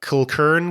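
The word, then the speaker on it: Kilchurn: image it is I'm not sure how to pronounce uh Scottish here uh Kern Castle okay that's it uh k i l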